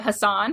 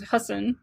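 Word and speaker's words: Hasan: it right because I I've been saying it Hassan for so long but then he corrected he corrected Ellen so it was husen uh having that whole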